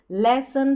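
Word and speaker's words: lesson: में ओ एन है, तो इसको ऑन नहीं पढ़ना है। आपको नियम पता चल गया। बड़ी स्पेलिंग्स में इस तरीके से लास्ट में ओ एन रहता है तो अ उच्चारण करते हैं ओ का, तो अन करके इसका उच्चारण होगा, ऑन करके नहीं।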